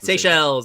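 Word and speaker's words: Seychelles: Oh the seell seells.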